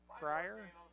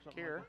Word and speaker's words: Kier: I see that kid's name is K-I-E-R, but did they pronounce it Cryer? No, Creer. Kier or Creer. Kier, like okay, Kier.